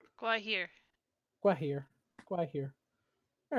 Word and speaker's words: Gwaihir: Athy, it's pronounced Gwaihir, right? Gwaihir.